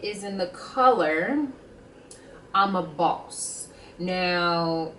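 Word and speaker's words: bawse: a boss um and please do not pronounce the W you don't really pronounce the w i was watching Jimmy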